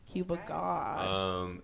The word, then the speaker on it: cubagawd: cubagawd on all the little social medias, Yes. IG being my favorite little social media. It's spelled G-A-W-D, God. Can you say God? God. Like God.